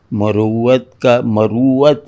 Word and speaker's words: مروت: مروت ہے اس کا تلفظ.